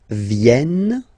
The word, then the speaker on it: viennent: Ils viennent, so remember this classic ending ENT for the third person of the plural is here, but phonetically it doesn't exist, so you don't pronounce it. Viennent, viennent, okay.